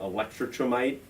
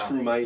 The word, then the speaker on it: Electrumite: this is what, Electrotrimite? Am I pronouncing that right? yeah. Electrumite.